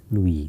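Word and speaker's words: Liouville: me write it because the spellings are pronunciations are different stom problems okay I think there is an u also l i o u v i l Louie some Louie problems okay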